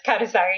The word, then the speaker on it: Kanesaka: Yeah, it's Kanesaka.